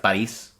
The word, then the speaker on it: Boris: Like the name Boris, for example, is pronounced Boris in Russia, and they just wanted it to sound more like creepy and stuff in American and stuff so anyways, she was a model at first.